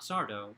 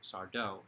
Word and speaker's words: Sardo: Not Sardo, not Mr. Sardo, Sardo, as he is always saying. No Mr. accent on the dough.